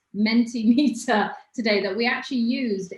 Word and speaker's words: Mentimeter: they're gonna go through the mentee mentee not mentos mentee meter today that we actually